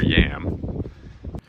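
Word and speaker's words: Yealm: mean this is fantastic called the river Yelm locals per pronounce it River yam there was a large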